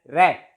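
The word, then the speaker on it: wrap: For example रैप, रैप लपेटना जिसे हम कहते हैं, W is silent, it is pronounced as रैप, W is silent.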